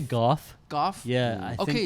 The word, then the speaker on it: Gough: I don't know how to pronounce his name. Is it Michael Gough? I always say Gough.